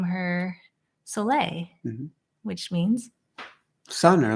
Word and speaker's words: Soleil: I think French, Soleil? Yeah, French. I'm going, wait, is this a trick question here? Hannah Soleil Sandler. That's Solei.